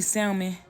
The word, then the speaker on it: salmon: But for the salmon, you could eat salmon, however you say it. I think the L is silent, but you could eat salmon, but it have to be Atlantic wild salmon or that kind.